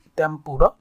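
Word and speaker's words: 天ぷら: তেম্পুরা মানে এটা হচ্ছে জাপানে তেম্পুরা, অর্থাৎ আমরা বাংলাদেশও চিনি মানে তেম্পুরা দিয়ে কোনো কিছু ভেজে খাওয়া, মানে চিংড়ি মাছ, অর্থাৎ তেম্পুরা দিয়ে চিংড়ি মাছ ভাজা।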